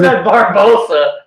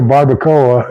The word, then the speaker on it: barbacoa: I didn't want to say it wrong, because I've said Barbosa. I said Barbosa before, but she's the one that got me to make the barbacoa, and oh man, was it!